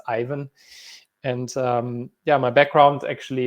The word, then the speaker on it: Aiven: yeah um because it's a lot of people say even but apparently it's ivan and yeah my background